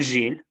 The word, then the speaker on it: gèle: Ага, только Ж перед Ю читается как? Жель. Il gèle.